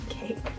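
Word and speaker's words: caique: Cake.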